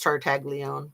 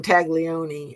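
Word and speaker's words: Tartaglione: be Tart Tagle Leone, but I think it's Tart Tagle Leone is how um I think people were saying it. She was calling him Tag Leone and then she realized that she was saying it wrong and she edited.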